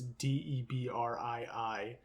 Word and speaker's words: Debrii: I think that's how you pronounce it. It's Debrii, and she's a low-level telekinetic.